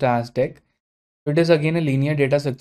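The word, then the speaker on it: deque: in Java so next in line is the deck data structure so it stands for w ended q and it's pronounced as deck it is again a linear data structure that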